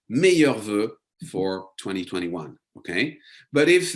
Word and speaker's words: meilleurs vœux: So this one is challenging to pronounce. Let me say it one more time with you. Meilleurs vœux. Okay, it's spelled in a very complicated way, but just to have a E sound.